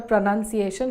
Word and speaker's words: pronunciation: It's pronunciation. Or is it pronunciation? We get confused sometimes and end up saying pronunciation. This is wrong. We say the word pronunciation as it is spelled.